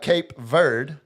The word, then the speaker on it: Cape Verde: So I've been going Cape Verde. Ver Cape Verde. No it's verde. See Cape Verde. There's an e at the end, man.